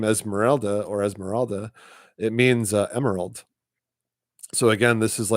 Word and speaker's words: Esmeralda: But what I want to get at is this character Esmeralda. So for starters, people say her name used to be Esmeralda, like ELDA, but now it's ALDA.